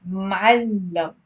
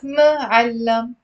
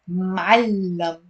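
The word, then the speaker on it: معلّم: So it's ma'allam. It's two syllables. It's not ma'allam. It's ma'allam.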